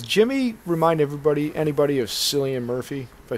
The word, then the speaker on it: Cillian: real quick does jimmy remind everybody anybody of cillian murphy if i said it right yes yes yeah alien i mean i yeah killian yeah yeah i know the name i don't